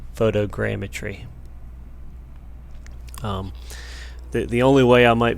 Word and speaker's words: photogrammetry: the way up and saying it wrong for the whole video there's an extra R in there he's crammed a trained eye geometry so photogrammetry the only way I